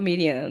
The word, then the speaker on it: Miriam: pero pues o sea, yo creo que Miriam es la pronuncia más correcta, eh, que María como tal, aunque la María